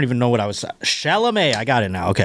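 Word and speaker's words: Chalamet: How do you say it again? It's shalom. Shalom.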